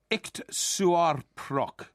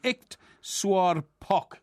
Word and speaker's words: iktsuarpok: They've got a word called Iktsuarprok. No, sorry, Iktsuarpok.